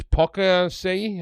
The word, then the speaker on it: Poaceae: It's Poaceae, I think is how you pronounce it.